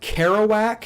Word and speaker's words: Kerouac: Is this pronounced Karouac? Yeah, Is that Jack Kerouac.